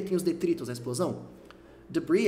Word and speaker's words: debris: Debris é pronunciado assim, ó. Debris. Debris. Mais ou menos isso mesmo. Como se o S não existisse. O S tá lá na escrita, mas na prática ele não é falado.